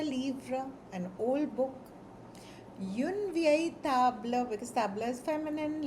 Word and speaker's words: vieille: But for objects, let's let's use ve uh for masculine, vieille for feminine, ve uh for masculine plural, vieilles for feminine plural, and before the vowel, vieille.